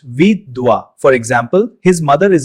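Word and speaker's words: विधवा: It's pronounced vidwa.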